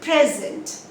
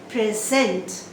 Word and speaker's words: present: say object i object this present i give you a present this is a noun you stress on the first syllable i'm going to present a gift to my daughter present so the stresses on the first syllable if it is a noun on the second syllable if it is over in three syllable words